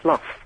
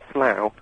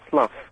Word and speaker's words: slough: That word about getting rid of dead skin is actually slough, not slough. It's spelt slough, but it's pronounced slough, according to the dictionary.